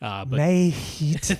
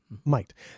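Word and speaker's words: Mayht: May-Heat. That's yes. right. To the American eye, it looks like May-Heat. It has been proclaimed. It is pronounced like we pronounce the word might. Might.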